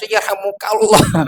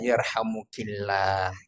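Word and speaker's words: يرحمكِ الله: Jadi kalau yang bersinnya perempuan, ya bapak ternyata mendengar ibunya bersin, ya yarhamukillah. Bacanya gitu. Harus sesuai. Sambil belajar bahasa Arab ini, ya. Ini bedanya di K dan Ki-nya. Huruf kafnya yang berbeda ya.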